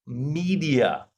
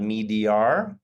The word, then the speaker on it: media: Which are more effective, adverts on TV or adverts on social media? Right? It's not media, media, 3 syllables, right? Media.